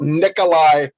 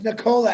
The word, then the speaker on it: Nikola: got it you're caught you're talking about nikolai tesla no it's nicola actually if you pronounce it correctly okay i beg the